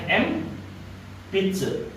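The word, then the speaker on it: 鉛筆: Ya, n ketemu p dibacanya m. Jadinya m pitsu. N-nya dibaca m pitsu.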